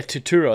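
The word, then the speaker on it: Turturro: say his name john torturo yeah tuturo that's that's how you say his name he played i said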